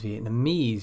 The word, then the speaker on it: Vietnamese: Some suffixes are always stressed as the final syllable in a word.